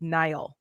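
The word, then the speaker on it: Niall: And so you know um one of our loyal watchers in the chat, her husband is Irish and she said it's pronounced Nyall.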